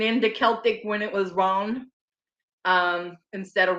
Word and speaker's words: Rowan: Celtic when it was Ron, instead of Rowan, when it was Ron. So yes, that's how it was originally pronounced.